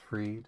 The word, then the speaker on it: Fried: Max Pride pronounced freed.